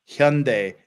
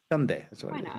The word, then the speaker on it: Hyundai: the the pronunciation of Hyundai it's Hyundai not Hyundai or Hyundai or Hyundai or Hyundai it's Hyun like h-y Hyundai like day like daytime Hyundai that's how you